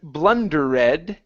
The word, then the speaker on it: blundered: this word instead of blundered okay the e in this word uh at the very end is not pronounced it's blunder blundered blundered